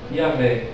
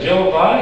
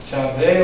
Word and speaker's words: Yahvé: Yahvé, exatamente. Porque a pronúncia correta é essa. Jeová é erro de tradução.